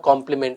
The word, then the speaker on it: complement: हिम ए कॉम्प्लीमेंट या कॉम्प्लीमेंट। अब pronunciation तो सेम ही है, लेकिन एक की स्पेलिंग है COMPLIMENT और दूसरा COMPLEMENT।